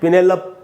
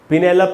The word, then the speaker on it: Penelope: अब अपने यहाँ क्या पढ़ेंगे इसको, अपने यहाँ पढ़ेंगे पिनेलप, ऐसे पढ़ सकते हैं शायद, जैसे होता है इनवेलप, ऐसे करके हम पढ़ते हैं। पिनेलप नहीं होगा दोस्तों, इसका शुद्ध उच्चारण है पिनेलपी, पिनेलपी।